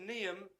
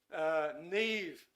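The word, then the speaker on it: Niamh: I'm inclined to say Niam, but I know that's not I know that's not the correct pronunciation. Anyway, Neve, thank you.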